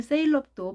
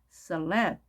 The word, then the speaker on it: celeb: 줄여서 셀럽이라고도 많이 하는데 사실 셀럽도 발음이 잘못된 발음입니다. celeb 이렇게 발음을 해야 되는 거고요.